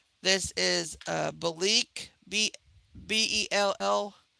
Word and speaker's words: Belleek: It's Belique, which if I write it on here, I'm sure you guys could see it here.